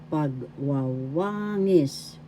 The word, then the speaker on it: pagwawangis: First syllable pag, second syllable wa, third syllable wa, fourth syllable ngis. Pagwawangis. The third syllable has the accent. Again, pagwawangis.